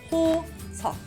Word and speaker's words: 호석: It's Ho, So, 호석. Don't pronounce the supporting consonant.